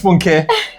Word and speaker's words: Funke: an issue personally, is when you are now the one wrongly pronouncing your own name. I mean, come on. Your name is Funke. And because you know the person can't say Funke, you now say, my name is Funky.